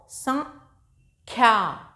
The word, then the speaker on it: संख्या: सा के ऊपर इसमें बिंदी लगी हुई है अंक की, तो इसको संख्या, ख्या, संख्या।